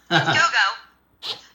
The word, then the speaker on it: Gogo: Gogo. Not Dogo like the dog.